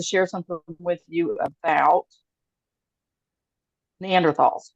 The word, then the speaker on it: Neanderthals: something with you about neanderthals or excuse me neander THS you don't pronounce the th no I'll pronounce the